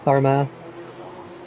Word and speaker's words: Armagh: Well, how do you pronounce it then, Armour? Armagh.